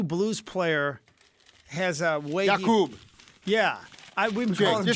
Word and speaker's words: Jakub: Jakub. Yeah. We've been calling him Jacob.